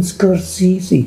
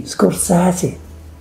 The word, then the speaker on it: Scorsese: greatest directors of all time martin scorsese martin scorsese scorsese susie martin scorsese show some respect to one of the greatest